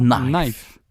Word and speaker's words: knife: Il arrive qu'il y ait des lettres muettes, un peu comme dans toutes les langues, comme en français. Donc par exemple, vous ne prononcerez pas le mot couteau knife, mais bien Knife. Knife.